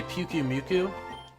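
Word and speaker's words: Pyukumuku: I think some people say Puku-Muku, like Puku-Muku, I don't know, but they say it like they slow it down. They basically say what I say, but slower. Puku-Muku. And I just say Pikimiku.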